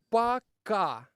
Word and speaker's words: Пока: Okay, Rafa, say пока to guys. But how do you pronounce it? Пока.